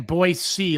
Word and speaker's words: Boise: again and i have water and he's saying boy c like s-e-e-c boys c boys oh zeke you're